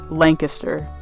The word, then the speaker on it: Lancaster: A side note is that Pennsylvania's Lancaster is pronounced differently than Lancaster in California. It is Lancaster.